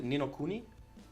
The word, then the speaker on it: Ni no Kuni: And Ni no Kuni? Mhm. Nino, So yeah, did I say it correctly? Ni no Kuni?